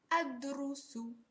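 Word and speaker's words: أدرس: And note the pronunciation of the last 2 letters is rusu.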